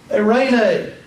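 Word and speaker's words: εἰρήνη: vowels together the next one is epsilon yoda pronounced like the e i in the word eight 8 a greek word is a rain a a rain a is the greek word for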